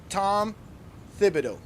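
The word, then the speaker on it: Thibodeau: His his his last name is spelled T H I B O D E A U. Tom Fibido.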